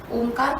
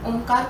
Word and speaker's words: ओंकार: तो जब हम ओंकार का उच्चारण करते हैं तो ओ जो होता है हमारा छोटा होता है और म जो होता है वो दीर्घ होता है, या हम उसे लंबे समय तक हमें उसे कहना है।